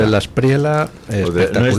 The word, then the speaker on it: De la Espriella: Ha sido el día de ayer con la victoria de de la espriela. De la espriela. Espectacular. No es de la espriella. No, no. De la espriela. Italiano. Es italiano.